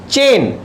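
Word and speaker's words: chain: ऐसे ही तीसरे को देख लेते हैं, चेन। देखिए चे ए आ रहा है, लेकिन चेन तो नहीं हो रहा ना, आई तो नहीं आ रहा। तो आई क्या है? साइलेंट है। इस केस में ए साइलेंट है, इस केस में आई साइलेंट है।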